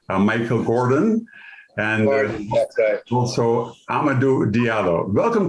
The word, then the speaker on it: Michael Gordon: Joining me to discuss this troubling issue that confronts them every day are Chef Michael Jordan, and I keep pronouncing your name, Michael Gordon, and also Amadou Diallo.